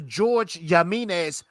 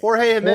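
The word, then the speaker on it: Jorge Jiménez: they even kept the George Jimenez style to it. That's incredible. I like that. Jorge Jimenez. Jorge buddy. Jimenez. Jesus. Oh, my bad. My bad, man. Your syllable and emphasis are way off.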